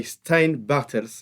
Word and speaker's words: Steyn Bartels: And today in this episode, we are joined by Steyn Bartels. I hope I pronounced in a good way your name.